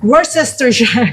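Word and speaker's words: Worcestershire: Ano ba tamang pronounce tita? Worst sister shar.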